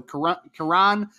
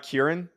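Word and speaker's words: Kiran: is absolutely fantastic so Quran amagi is how you pronounce it I'm a guy Quran not Kieran it's Quran yeah wow I'm sorry Quran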